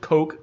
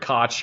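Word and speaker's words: Koch: Made by Heckler Heckler and Coke or Heckler and Cootch, however the hell you want to pronounce it. I say cotch. Everyone says cotch.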